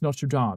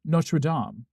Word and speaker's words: Notre Dame: It's supposed to be pronounced Notre Dame. Yes, Notre Dame, because that's what the French call it, right? Though they probably pronounce it better because it being French.